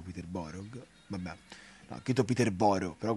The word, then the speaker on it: Peterborough: si gioca in casa contro il peter berg iscritto che il peterborough si pronunciano peterborough mamma a quito peterborough